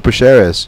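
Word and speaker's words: Prazeres: had beat, man, but Michael, what is it, Praceres? Is that how we pronounce his last name? Yeah, Michel Praceres.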